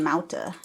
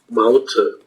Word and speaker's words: Mauthe: So it's German, Mauthe. Mauthe. So it's not TH sound. Maut and then H.